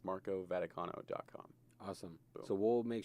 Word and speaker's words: Vaticano: 3 4 4 and my full name is Marco vaticano like the Vatican in Rome with an